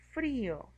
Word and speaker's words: frío: En la I tenemos que ponerle la tilde para que tenga más fuerza y poder pronunciar frío. Como tiene la tilde en la vocal cerrada, se separa y forma un hiato.